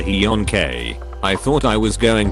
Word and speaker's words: HJNK: My girlfriend speaks fluent Norwegian and told me how that would be pronounced. Kind of a hjonk.